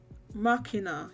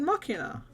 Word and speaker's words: Machina: remember this region locked um Machina yes what said makina yeah I know that's what the casacana says but I mean what does it say what how you meant to pronounce it in English in English like it would be Makino because they they're getting it from deus ex machina or what stuff that's